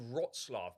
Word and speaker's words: Wrocław: It's actually called Wrocław because I done a TikTok, right, and got absolutely battered in the comments by these Polish people criticising my pronunciation.